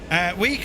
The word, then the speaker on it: Wick: Week is how it's said locally. Aye, just leaving Week.